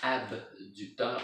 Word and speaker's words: abducteur: J'ai dit adducteur. Je pense que j'ai mal prononcé. Là. Abducteur. A, B, comme bébé, D. Ça, c'est l'extérieur.